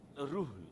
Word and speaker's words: Ruhul: Oh, Rule. Oh, okay, Rule. Yeah. Ru. Okay. Lot of H behind it. So, okay. Ruhul. Yeah, Ruhul. That's Ruhul.